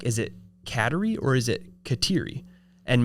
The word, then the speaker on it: Kateri: And it's spelled Kateri. So I didn't know if it was Kateri. I assumed Kat for short. Yeah. Well, the whole night, the officiant was calling her Katari. Like the Atari.